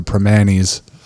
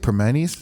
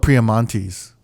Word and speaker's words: Primanti: Wait, how do you say it? Permanis? Permani Brothers, yeah. I used to call it Priamontes. I'm pronouncing it wrong, right? I'm reading it wrong.